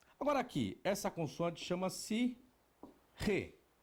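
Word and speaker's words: ה: Agora aqui, essa consoante chama-se Re. O que vai representar? Um H. Só tem uma diferença. O H no português, ele é mudo. Porém, em hebraico não. Será aspirado.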